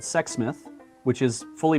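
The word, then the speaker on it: Sexsmith: you know but it's not it's just it's sex smith alberta it's like okay there's stories i've heard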